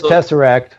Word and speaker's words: tesseract: book you know it's tesseract is that how you pronounce that yep it is tesseract so what tell us